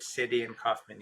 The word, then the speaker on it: Cydian Kauffman: Cydian Kaufman. That's right, you did. Cydian Kaufman.